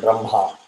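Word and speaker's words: ब्रह्मा: We are always taught as Brahma. It is not im, ha, it is hma. So you land with bra and grab the h, which is the brah, ma.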